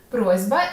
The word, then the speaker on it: просьба: Просьба. Сім'я, прихильність. сяйво. Ти вже знаєш, що асиміляція за дзвінкістю відбувається у слові просьба. Перед дзвінким б глухий с уподібнюється до свого дзвінкого відповідника з.